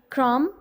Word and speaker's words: crumb: Third column में आप देखें आपको नज़र आएंगे crumb, tom, com. In these words silent letter is B.